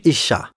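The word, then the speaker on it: איש: été tirée de l'homme l'homme est appelé ich maintenant dites Isha ainsi en hébreu une femme et Isha un homme c'est ISH d'accord vous avez compris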